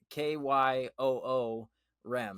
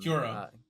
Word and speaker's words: Kyurem: I did look it up in a book. It's pronounced like a Kyoo Rem. Kyurem.